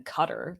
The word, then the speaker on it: Qatar: So I'm so confused about Qatar still, though, which, by the way, American accent, we would rather say something that rhymes with guitar rather than Qatar, like someone who's trying to kill continue, themselves.